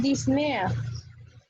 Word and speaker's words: disnea: Se pronuncia disnea.